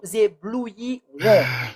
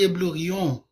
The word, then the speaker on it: éblouirons: Nous éblouirons. Merci beaucoup. Ok, Éblouirons. question pour... Yes, éblouirons. C'est nous Excusez-moi. éblouirons. Vas-y. J'ai dit éblouion. Oui, éblouions, non. Éblouirons, c'est le verbe éblouir. I, ça se prononce.